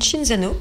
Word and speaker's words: Cinzano: C'est Cinzano, si on le prononce avec l'accent italien, qui nous a fait ça.